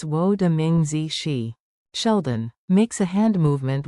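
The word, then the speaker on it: 我的名字: Wo de Jing Xi Sheldon Howard. No, it's Wo de Ming Zi.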